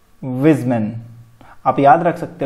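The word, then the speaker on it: Weismann: उसका नाम था विजमैन. विजमैन, वाइज मैन, ऐसे आप याद रख सकते हो.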